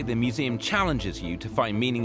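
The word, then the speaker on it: Mmuseumm: Welcome to museum. That curb's dangerous, by the way. I almost killed myself. So, the double M is silent.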